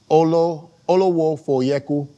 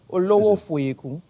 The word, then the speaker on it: Olowofoyeku: If you take it 2 letters at a time, pronounce it exactly as it looks, then you get it. Okay, here we go. Olowofoyeku. The only difference is in the inflection with the accent.